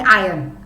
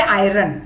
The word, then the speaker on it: iron: सो I would say इट is like silent R in iron, but don't say iron.